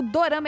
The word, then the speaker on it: Dorama: falar dis Na verdade o Dorama ele é a pronúncia japonesa de drama no japonês beijo x